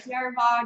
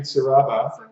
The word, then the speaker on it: Saraba: We're going to go to Sierra Bar, get some a froth bowl, and you mean Saraba. As we learnt on last week's episode, how to pronounce Saraba.